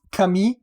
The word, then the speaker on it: Camille: And otherwise, the first name is definitely pronounced Camille, and Saint is definitely pronounced Saint, but or is it Sant?